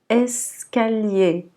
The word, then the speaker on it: escalier: Donc on dira escalier, escalier. Le premier E, il est prononcé E, et le dernier, ER, également, sera E, donc escalier.